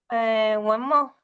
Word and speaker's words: Wenmo: meto, pero ahora vamos a continuar con, ¿cómo pronunciamos, Claudita, a Wenmo? Wenmo.